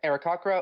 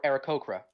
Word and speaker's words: Aarakocra: It can be pronounced Arakakra or Arakokra.